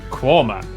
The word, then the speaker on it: Quernmore: Mousehole, Next, travel north up to Towcester, Toaster, then a quick jaunt to Gotham, Gotham, followed by a stop in Quernmore, Quorma, before finishing up in Alnwick.